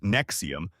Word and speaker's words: NXIVM: NXIVM, pronounced Nexium, presented itself as a self-help organization offering leadership and professional development workshops.